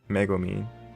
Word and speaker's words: Megumin: Megumin is how it's spelled, Megumin is how it's pronounced. Okay. I still have a lot to learn. As far as spelling and pronunciation of Japanese names. It's okay. That's how it's pronounced in both languages.